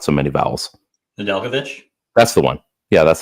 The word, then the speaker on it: Nedeljkovic: Nedeljkovic? That's the one. Yeah, that's the one. Yeah. So you want to say it like phonetically, it'd be like Nedeljkovic.